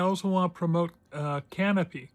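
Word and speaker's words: Kanopy: By the way, as long as I'm promoting Tuby, I also want to promote uh Canopy. Canopy spelled with the K is a a service you can have free access to from your library.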